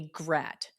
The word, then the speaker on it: GRAT: Quick sidebar concerning a GRAT. It rhymes with cat.